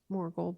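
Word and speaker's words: Morgul: blade so there's that how did you pronounce it more gold blade there you go i thought you said mortal blade like okay okay you got it that's awesome no no you got it perfect okay uh and then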